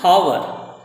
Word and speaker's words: hour: Next, before words beginning with a silent H, H is silent. Example, an hour, இதில் H சைலண்ட்னா ஓ அப்படின்ற அந்த உயிரெழுத்து வருது, நெக்ஸ்ட் லெட்டர்ஸ் ஓ உயிரெழுத்து வருது, அதனால் அன் ஹவர்.